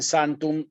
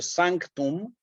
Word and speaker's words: sanctum: seis y la t si dicen santum se va a entender obviamente nomen ellos pero sanctum fun es lo más perfecto digamos para ser fieles a la palabra latina no De hecho si yo les hicieron un dictado como también hacemos con nuestros alumnos yo no les puedo decir a ustedes Samsung porque la van a escribir mal le tengo que destacar esta parte zangton sí nomen ellos